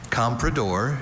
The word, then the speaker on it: comprador: Compredor is the only pronunciation of this noun.